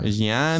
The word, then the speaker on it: Reggiani: They said Reggiani. Yeah. Reggiani. Sounded like cheese.